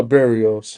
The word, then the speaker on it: Barrios: Bar, ba, ba, ba, ba, Oh, Barrios. Barriers.